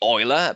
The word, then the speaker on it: Euler: The German pronunciation should be Euler, but out of clarity, I'll just say Euler.